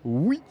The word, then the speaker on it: Ui: Alors, je m'appelle Oui. Donc, comme oui en français. Eh oui. Ça s'est écrit en UI, mais ça se prononce oui.